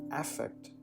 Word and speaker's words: affect: in its noun form effect is almost never used outside of psychology also when used as a noun its pronunciation changes to affect rather than effect so actually the previous